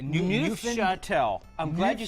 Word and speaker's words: Neufchâtel: cheese and then this weird thing I can't pronounce. It starts with an N. Like Neufchâtel. I'm glad you said Neufchâtel. Neufchâtel.